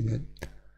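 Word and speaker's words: 年: si dice sempre Toshi, Toshi, quindi Kotoshi, Maitoshi, invece Kyonen si dice Nen. Nel kanji è lo stesso, però si dice, in certi casi si pronuncia Ren, in certi casi si pronuncia Toshi.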